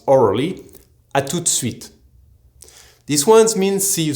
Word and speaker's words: à tout de suite: For example, à tout de suite, pronounced orally, à tout de suite.